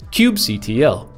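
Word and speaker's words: kubectl: is one last bit Cube CTL or cube cuddle for those who can read there's actually a very hot debate about how to pronounce this but I'm huge fan of cuddling so Cube cuddle is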